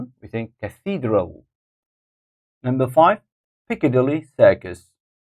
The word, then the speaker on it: Piccadilly: think Cathedral number five Piccadilly Circus Piccadilly Piccadilly Circus first syllables number six Leicester Square